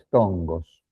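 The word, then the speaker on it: φθόγγος: que los griegos llamaron tongos. Después se lo escribo, porque se escribe P-H-T-H-O-N-G-O-S, tongos.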